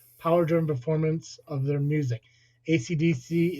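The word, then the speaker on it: AC/DC: ACDC is pronounced one letter at a time, though the band are colloquially known as Akadaka in Australia.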